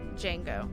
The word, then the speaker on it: Django: the D is silent in Jin, like Django.